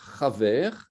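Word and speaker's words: חבר: masculin, de la racine chaver, chaber, hein, puisque c'est la lettre bet, chet, bet, resh, la racine, hein, mais il n'y a pas de dagesh, donc on prononce chaver.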